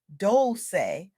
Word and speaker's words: Dolce: I'm Dolce, pronounced doulce like sweet softness whispered in French.